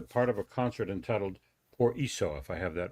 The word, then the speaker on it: por eso: of a concert entitled Por Eso, if I have that right. Tell us a little bit about Por that. eso, it means, yeah, it's pronounced in Spanish, but it's like, por